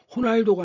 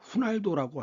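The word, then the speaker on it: Ronaldo: 그러면 언어 중에는 자 인카의 매듭 문자인 문자 퀴프라는게 있죠.이 이 포르투갈 쪽 발음에서는 5오를 우라고 발음해야 됩니다. 그래서 호날도가 아니라 후날도라고 하죠.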